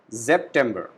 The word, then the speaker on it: September: S alphabet is pronounced as Z, so we call it September, September.